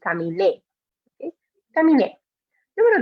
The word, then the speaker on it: caminé: And again, making sure we're really putting the stress on that E at the end, because otherwise we would pronounce it, if there's no accent, we would pronounce it camine. And that's not right. It should be caminé.